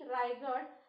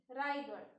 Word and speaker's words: Raigad: Rigard. R A I G A D. Rigard.